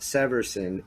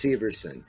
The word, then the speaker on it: Severson: from The Brew jackets know that it's not Severson it's Severson he has said Severson a million times Damon should go with